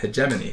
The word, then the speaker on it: hegemony: So without attacking a planet, you can just diplomatically take it over with hegemony.